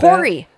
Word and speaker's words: Corey: Corey. Corey. New character. New character. Rhymes with Lori.